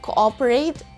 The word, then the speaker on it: cooperate: or cooperate it's cooperate imagine that there is w between those two l's and then the letter o should be sounded as letter a like ah cooper and then rate it's not cooperate it's cooperate students are encouraged to cooperate